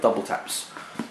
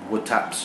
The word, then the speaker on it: WTAPS: And Double Taps. For those of you, that is how you pronounce the name of this brand, Double Taps. It's not Woo Taps or Wood Taps or W Taps.